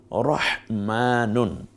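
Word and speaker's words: رَحْمَانُ: হলো রহমানুন রহমানু রহমানু র কে আকার দিন রা হয়ে রই থাকে এখানে তারপর শুধু শুধু হ তাহলে কি হয় রহ রহমান না রহ মকে খারা আকার দিন মানে খাড়া জবর এতে করে এক আলিফ টেনে বলুন মা নকে রসুকার তাহলে কি রহমান নাকি রহমান রহমান এটা হা বলার সময় দেখেছেন একটু আহ রহমান কি চমৎকার না রহমানু এরপরে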